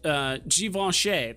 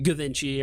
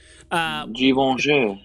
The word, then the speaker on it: Givenchy: What Givenchy, that's how you pronounce it. It's not Givenchy or whatever. Givenchy.